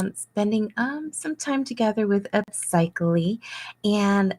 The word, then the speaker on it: Upsychelly: So, what we're basically doing is we are spending some time together with Upsychelly, and Upcychelly is pronounced psych. LE. It sounds like upcycling without the NG.